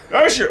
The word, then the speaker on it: Ayrshire: We're still on the Ayrshire? How do you say that? Ayrshire coast of Scotland, which is on the west coast. I'm getting it, Gordon. Ayrshire. What's it? Ayrshire.